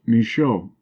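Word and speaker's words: Michaux: of the Giants TSC was a giant misho pronounced misho a French botanist and traveler vanm a Belgian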